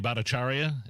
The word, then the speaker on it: Bhattacharya: Jay Bhattacharya, is that? Yes. I'm pronouncing his name correctly, right?